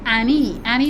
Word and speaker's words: Ann3ie: I'm told that her name is Annie, as in ANNI, number 3. The 3 is silent, and E.